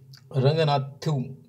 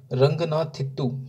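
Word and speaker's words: Ranganathittu: कर्नाटक की यदि बात करें तो यहाँ पे हमें रंगनाथु, तो ये दोस्तों इसका थोड़ा सा प्रोनाउंसिएशन मुझसे सही नहीं हो रहा है, क्या है, रंगनाथित्तु है ना, रंगनाथित्तु बर्ड सेंचुरी, ये दोस्तों हमें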